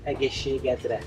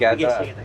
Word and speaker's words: Egészségedre: Egészségedre. Ageshia Yes. All right. Egészségedre.